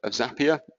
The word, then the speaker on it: Zapier: I would hope probably a good chunk of people have heard of Zapier. It rhymes with happier.